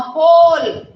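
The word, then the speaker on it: whole: नाउ होल. होल में W silent हो गया, E साइलेंट हो गया, दोनों ही साइलेंट हैं.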